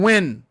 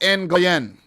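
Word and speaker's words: Nguyen: how it's pronounced right n goyen is not pronounced n guyen let me let me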